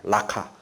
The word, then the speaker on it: 라카: 히브리어를 발음 나는 대로 적은 겁니다. 예. 저거를 원어에 가깝게 발음한다면 라카라고 한다 그래요. 라카.